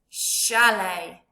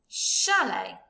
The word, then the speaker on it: chalet: Tricky because it's got a T on the end. It doesn't sound like a T, does it? But we've definitely got the sh sound at the beginning. Chef, chalet.